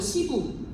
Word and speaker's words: 시부: 그 쿵푸팬더의 시부 아시죠? 시부. 발음 세게 하면 안 돼요.